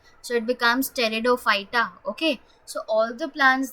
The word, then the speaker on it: pteridophyta: having is steridophyta now here the p is silent so don't read that you can start reading it from T so it becomes pteridophyta okay so all the